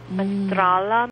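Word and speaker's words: Menstrala: love the word because it rhymes with mandala manala mandala and mandala means wholeness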